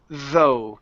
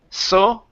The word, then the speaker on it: though: one is the word though give me a good th here at the beginning instead of so or though so though though